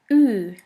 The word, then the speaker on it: Ü: The last umlaut is Ü, Ü, or U umlaut. For this letter, there is no equivalent in English.